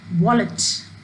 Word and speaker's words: wallet: See the word wallet. Wallet. When we speak the word wallet, the stress is on the first syllable, wall.